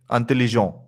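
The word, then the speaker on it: intelligents: Intelligent. We are not pronouncing the T. We are not pronouncing the T and S.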